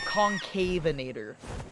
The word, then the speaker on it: Concavenator: It's uh pronounced um Concavenator.